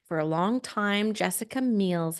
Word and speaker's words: Meils: because it is spelled It Miels, it's right? it's Meils, and Right.